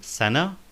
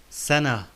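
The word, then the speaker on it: سنة: So we notice we say ha, sana, ma'ida, like the words wajh, wajh and intibah. The last letter in wajh and intibah is ha. So we pronounced the ta marbuta in sana and ma'ida like ha, like in wajh and intibah.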